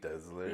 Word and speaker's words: Desler: my husband's English and everyone in uh his family says desler really mhm so I actually say my own name wrong dler I usually say dler yeah but it's like a z desler yeah that's I me